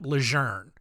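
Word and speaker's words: Lejeune: in eastern North Carolina I have seen reports that it has actually pronounced camp leure but Over My Dead Body am I gonna add an R into that word no shot dude you're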